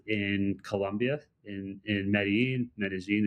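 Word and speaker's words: Medellín: I decided to spend about a month in Colombia in in Medí, Medigene if you pronounce it in the kind of Spanish flare of of the uh of the name.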